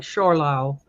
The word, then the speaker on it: Zschorlau: and forgive my pronunciation, I'll spell it Zschorlau. So it's kind of like Schorlau.